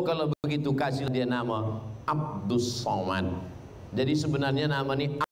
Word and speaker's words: Abdus Somad: awak yang salah baca tulisannya Abdul Somad tapi membacanya adalah Abdus jadi nama ini dimintakan